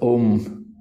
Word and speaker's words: om: type of pranayama so three syllables a u m this om so that is the